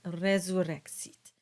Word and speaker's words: resurrexit: So you would get a very soft production of a Z sound as in Jesu and resurrexit.